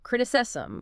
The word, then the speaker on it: criticism: Or even criticism, ciscrisism, that does have isism, but the stress pattern is different. It's on the first syllable, criticism, whereas feminism is femism.